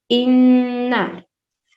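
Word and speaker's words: إِنَّا: ہجے اس طرح سے ہم اس کو کریں گے، الف نون زیر ان، نون الف مد زبر نا، انا میں ہم پہلے غنہ کریں گے، ٹھیک ہے۔ غنہ کسے کہتے ہیں؟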